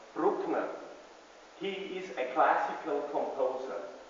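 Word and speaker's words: Bruckner: heard of Antonio Anton we say Brookner he is a classical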